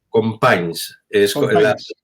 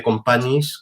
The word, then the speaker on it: Companys: dice no Javier Javier Cómo se dice en catalán con paines la y pasa adelante en vez de companys que se escribe con panis Pues con panes es